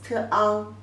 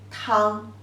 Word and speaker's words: 汤: And the pronunciation is 汤, 汤, 汤.